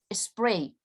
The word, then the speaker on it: Sprite: más de una vez sprite que la correcta pronunciación para el inglés es spray no tenemos ninguna palabra